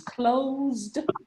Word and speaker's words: closed: Bueno, suena como T, de hecho es una D, es ED, una D al final, pero de hecho suena, se pronuncia como T.